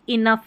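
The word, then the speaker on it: enough: इनफ है, टफ है। सभी में फ है। जी एच लिखा गया है फ की ध्वनि के लिए।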